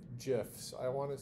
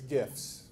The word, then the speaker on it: GIF: Here's an image, some GIFs. No, it's GIFs. My son, right? It's GIFs. My son tells me that the GIF file format is pronounced GIF because you give people gifts, not GIFs, but whatever.